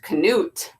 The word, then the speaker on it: Knut: name is Knut and is his story Knut pronounced Knut was born on December 5th 2006 at the